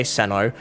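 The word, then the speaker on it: Cyno: respectful as possible and that is my choice in why I say kandake and why I say Seno because for me that is what I've been told and that is what I have researched as the correct way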